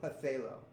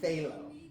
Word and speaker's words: phthalo: a phthalo blue it's p-h-t-h-a-l-o it's the weirdest spelling in the world but we pronounce it phthalo for the longest time